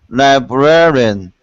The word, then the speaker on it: librarian: ran libran libr you're adding too many syllables not rean say this rean ran bran ban good librarian Li librarian perfect oh it's a big challenge for me you job never oh anyway it's four it's four syllables it's four syllables okay